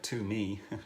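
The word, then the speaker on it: tumi: me is spelled t-u-m-i it sounds like to me and it and the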